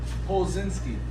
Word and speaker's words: Polczynski: How do you pronounce it? Polinski.